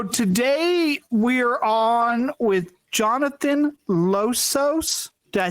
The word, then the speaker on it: Losos: in herpetology So today we're on with Jonathan losos did I say that correctly losses losses yes okay so he told me wrong